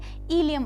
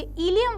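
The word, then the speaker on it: ileum: important part होता है हीलियम वाला पार्ट तो इसकी स्पेलिंग में सही कर देती हूं हीलियम जो है आई एल आई यू एम ये इलियम वाला पार्ट बहुत इंपॉर्टेंट होता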